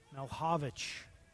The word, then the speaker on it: Milhovich: Malhovich is the pronunciation we're getting from the scores booth.